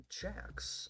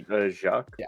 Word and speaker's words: Jacques: His name is Jax, or whatever the fuck is the French. You pronounce the French names. I believe it should be Jacques.